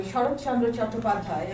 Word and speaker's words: Sarat Chandra Chattopadhyay: So I will begin with the 1917 Bengali novel, Devdas, by Sarat Chandra Chattopadhyay. I'm pronouncing it in the Bengali way.